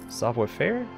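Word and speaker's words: Savoir Faire: means you won't be shooting at all software fair but that's how it's pronounced acrobats thieves and bearable show-offs cyber fair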